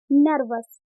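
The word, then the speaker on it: nervous: है इसमें ई आर, एन और वी के बीच में ई आर आ रहा है, तो इसे हम क्या प्रोनाउंस कर रहे हैं आ के रूप में।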